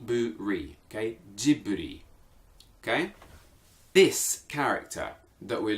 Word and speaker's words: Ghibli: three or wreath okay G boot three okay jibley okay this character that we're looking at okay